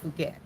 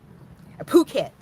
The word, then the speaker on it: Phuket: Okay, let's talk about Phuket. Phuket. Phuket. It's pronounced with a P.